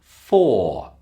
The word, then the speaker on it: for: Another word which has a strong pronunciation and a weak pronunciation is the word for. Its weak pronunciation is f.